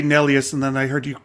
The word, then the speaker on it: Nelius: time because it does it does more like the German pronunciation so we're here today